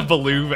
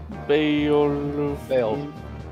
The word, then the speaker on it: Beowulf: You're not a Baloov, Algus. What the fuck? Baloov? I don't know how to pronounce his name. Beowulf.